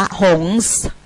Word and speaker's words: หงส์: ต้อง ออก เสียง ตรง ส เสือ การัน เา เรียก ว่า การัน หรือ ตัว ตัว ที่ ทัน คาต คือ ตัว ส เสือ พอ เรา ใส่ การัน ไป ที่ ส เสือ คำ เอ่อ ตัว ส เสือ ก็ ไม่ ต้อง ออก เสียง เพราะ ว่า เรา ทัน ท คาต ไว้ ไม่ ต้อง ออก เสียง ว่า หงส ไม่ ต้อง ออก ว่า หงส ออก หงส์ เฉย ๆ เป็น แม่ กง คือ